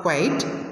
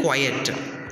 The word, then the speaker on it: quiet: students to keep quiet not quit or not quiet not quite quiet so keep quiet okay so that is the correct pronunciation for that the teachers are the